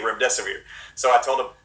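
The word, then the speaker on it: Remdesivir: hosts they couldn't say Rim desevered so I told them just remember it rhymes with run death is near and so that's what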